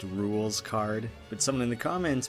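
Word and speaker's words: Rouxls Kaard: how Rukh Souls card is actually supposed to be pronounced rules card but some in the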